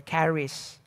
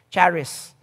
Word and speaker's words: Charis: Hebrew in the Greek the Greek word for Grace is Caris and of course in the English version of that we have the names Charice or Caris Okay C it can also be spelled with ch h i r i s Charis or Caris that's where we get